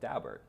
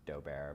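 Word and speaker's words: Daubert: did is they teed up the case called dalbert and dauber and looks as though it should be pronounced dober but people i know who know the dalberts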